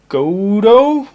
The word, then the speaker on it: Gotoh: You can also find locking tuners on here by Gotoh, I think it is pronounced, G-O-T-O-H.